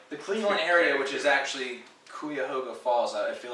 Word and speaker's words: Cuyahoga: Cleveland area the Cleveland area which is actually Kuya hoga falls out I feel like that's how you pronounce it not Cuyahoga Kuya the rod man's